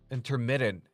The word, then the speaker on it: intermittent: But also like is it an intermittent intermittent intermittent intermittent fasting? How do you say it? Intermittent. I think it's a glottle T.